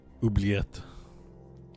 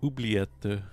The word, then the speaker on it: oubliette: It's pronounced comme oubliette. Is it quicker to go the right up here? Oh, yeah, it is. Yeah, it's one of those words that pronounces pretty much the same way in French and English.